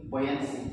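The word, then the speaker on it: buoyancy: बोयंसी। क्या पढ़ेंगे? यहाँ पर यू ये है वो साइलेंट हो जाएगा। इसको क्या पढ़ेंगे? बोयंसी पढ़ेंगे।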